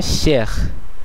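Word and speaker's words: chers: যেমন এখানে শেখ শেখ শেখ। এখানে নিশ্চয় আপনারা খেয়াল করলেন এই শেষে পর্যন্ত উচ্চারিত হলো। কিন্তু সর্বশেষ এসটি উচ্চারিত হলো না।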